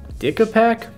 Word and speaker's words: DicaPac: But I did remember another tool that I've seen a friend use in the past called the DicaPac. Either way, not a good name, but it's spelled D-I-C-A-P-A-C.